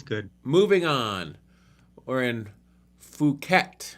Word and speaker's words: Phuket: We're in Phuket. You can't pronounce it the other way or YouTube won't allow us to monetize our video. Phuket, Thailand. Dino Poo. I think it's Phuket. Fuck it, Thailand.